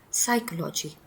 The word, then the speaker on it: psychology: Instead we say psychology. The P is a silent one.